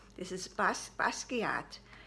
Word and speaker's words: Basquiat: the famous bag the basquiat i said it right everybody i've been practicing my problem with that word was i was looking at the spelling and that threw me off this is bas basquiat it's a com a